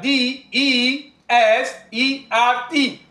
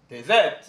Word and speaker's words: desert: the second word which is also spelled as d e s e r t um it is pronounced as desert repeat after me desert and it is a